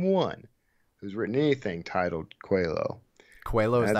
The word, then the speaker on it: Coelho: he was checking in with me so I pronounce this quello like the Portuguese name right absolutely there's absolutely